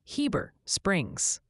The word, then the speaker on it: Heber Springs: Seems the overwhelming verdict for Heber Springs, Arkansas is definitively Heber Springs.